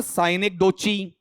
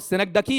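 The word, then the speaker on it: synecdoche: सनगडकी। उच्चारण करो बताओ क्या है? ऐसा मत बोलना। साइनेगडोची। बताओ क्या है? सिनक डकी हंसाने के लिए बोला मैंने ऐसा आपका ऐसा तो कोई नहीं पढ़ोगे आप बताओ सिनक डकी है इसकी परिभाषा याद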